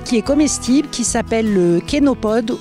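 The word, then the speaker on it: chénopode: Donc on a ramassé aussi une plante qui est comestible qui s'appelle kénopode ou chénopod puisque ça s'écrit ch et c'est en fait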